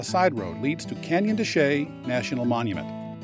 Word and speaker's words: de Chelly: road leads to Canyon desay National Monument it's spelled Chelli but trust me it's desay it's the first of